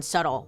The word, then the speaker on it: subtle: Don't get me started on subtle. What is up with that B? I didn't even know. I thought that was subtle. I said subtle forever.